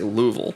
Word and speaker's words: Louisville: ] or like uh louisville mm-hmm louisville welcome well technically people from there say louisville yeah so but and that's just a degradation that's weird right i would accept louisville or louisville yeah or